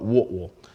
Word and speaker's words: Whitwell: of chattanooga tennessee called whitwell if you're from there they call it what will don't ask me how